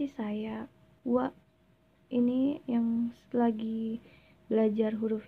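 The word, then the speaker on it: は: Atau yang minasang baru tahu itu huruf H ya, tapi dibacanya wa karena dia sebagai partikel subjek.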